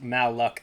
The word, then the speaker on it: Malachi: cotton field day crack malachi pronounced mall luck i a black man